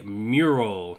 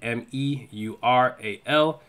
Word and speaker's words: Meural: So the last thing that I have here is going to be Meural, not spelled the same way, spelled with the E, M-E-U-R-A-L.